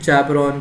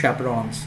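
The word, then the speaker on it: chaperones: I don't know why many many students will be saying you know chapon chapon chapon it's not chapon actually actually it is chapons you know chapons yeah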